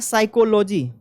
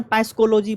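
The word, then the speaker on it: psychology: क्या पूछ सकता है साइकोलॉजी प से स्टार्ट होता है पी साइलेंट होता है एस वाई सी एच ओ एल ओ जी वाई साइकोलॉजी इसको नहीं याद होता पस कोलॉजी पढ़ लीजिए आप लोग और क्या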